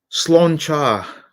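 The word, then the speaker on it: Sláinte: of my ability uh slan char would be the correct pronunciation okay slan cha and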